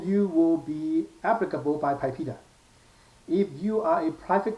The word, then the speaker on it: PIPEDA: PIPEDA, I pronounce it PIPEDA, okay, or PIPEDA, okay.